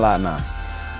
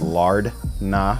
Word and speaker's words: lard na: My favorite meal, it's called chicken lat na. Now, if you go to a normal Thai restaurant, it's usually spelled lard na, like Lardna, but it's never pronounced like that.